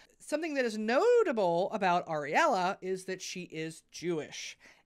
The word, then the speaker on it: Ariel: just a second, and Ariella. Oh my god, I am so sorry. So I called her Ariella a bunch of times in the episode. Her name is Ariel. It's spelled A-R-I-E-L, and yeah, please.